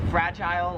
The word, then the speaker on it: fragile: It's fragile if you're American. Fragile. Here in Australia, how they say it is it's fragile, like they say aisle, we say oh.